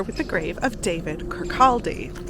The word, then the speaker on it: Kirkaldy: And that's what's happened here with the grave of David Kirkaldy. Or, if you're Scottish, it's pronounced more like Kirkaldy, but I have rhotic R's and harder L's.